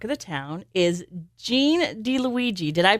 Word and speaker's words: DiLuigi: My next guest to Talk of the Town is Gene DiLuigi. Did I pronounce that right?